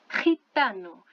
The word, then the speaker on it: gitano: Então, é este som, tá? Porque não é simplesmente um R, tá? Gente. Não, é um negócio um pouco mais forte, tá? Gente, ok? Gitano.